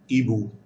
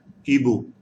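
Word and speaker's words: hibou: to look at it eboo h is silent ebook so we like this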